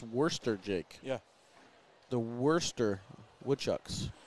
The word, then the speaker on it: Worcester: It's actually pronounced Worcester, Jake.